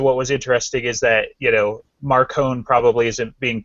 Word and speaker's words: Marcone: So, how is Macron pronounced correctly? In Italian, it would be more like Marcone, but Jim says Marconi or Marcone. Marcone.